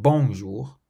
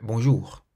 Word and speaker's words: bonjour: Have a look at the pronunciation and stress of these words. Bonjour, bonjour means hello, so it's not bonjour, but bonjour. Merci, merci means thank you.